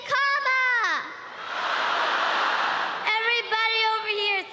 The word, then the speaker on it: Kamala: First, you say comma like a comma in a sentence. Then you say la like la la la la la.